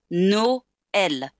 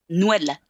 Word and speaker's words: Noël: The same in Noël. If you didn't have these two dots, it would be pronounced Noël.